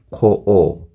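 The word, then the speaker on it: 観光: 그래서 응 발음 같은 경우에도 발음이 약간 길게 나요. 그래서 칸코오, 네, 이런 식으로 발음이 되거든요.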